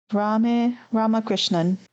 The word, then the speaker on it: Ramakrishnan: Yeah, so Ramakrishnan.